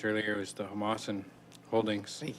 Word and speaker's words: Homalco: And I believe the word you were trying to pronounce earlier was the Homalco Holdings.